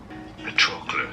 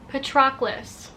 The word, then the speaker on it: Patroclus: I don't know how to say this. Patroclus. Stress on that second syllable. Patroclus.